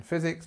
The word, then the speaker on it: physics: 6:00 um number three physics physics is my favorite subject again physics mathematics it kind of has the same the same rule um physics just remember that the stress is on the first part physics physics is a